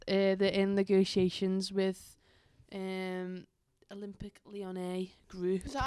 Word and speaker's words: Lyonnais: Anyway, Rain FC have announced that they're in negotiations with Olympic Lyonnais group. Is that how you pronounce it? Yes, Lyonnais.